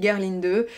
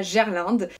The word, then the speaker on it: Gerlinde: Elle avait des origines autrichiennes et donc en autrichien on dit Gerlinde. Maintenant je sais qu'en France on prononce ça Gerlinde et c'est vrai que